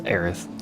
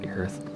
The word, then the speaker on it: Aerith: there's a flower girl you're not aeth you're heirs it's aerith i always pronounce it the earth the maelstrom officially makes